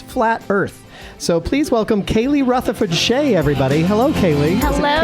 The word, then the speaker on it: Kayleigh: So please welcome Kayleigh Rutherford-Shea, everybody. Hello, Kayleigh. Hello, Kayleigh? Dan. Am I saying that right? It's Kayleigh.